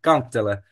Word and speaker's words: kantele: I don't think I'll be able to pronounce that. No, it's really simple, kantele.